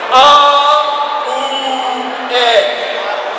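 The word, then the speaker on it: Awen: aen word three times aen has three syllables a o in we will do each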